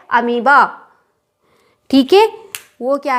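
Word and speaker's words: amoeba: अमीबा है ठीक है लेकिन इसमें और क्यों लगता है और जो है बीच का साइलेंट लेटर है ठीक है स्पेलिंग क्या होती है Mi दिए लेकिन हम करना उस क्या करते हैं अमीबा ठीक है अब यह तो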